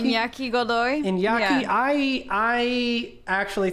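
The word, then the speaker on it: Iñaki: Inoy, uh, or Inaki? Inyaki? Inyaki Godoy.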